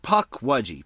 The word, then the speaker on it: Pukwudgie: How do you pronounce it? Is it Pukwudgie or Pukwudgie? It's supposed to be Pukwudgie.